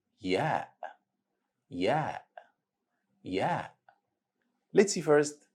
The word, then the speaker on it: ي: It has equivalent sound of letter Y in the word yellow. Repeat after me. Ya. Ya.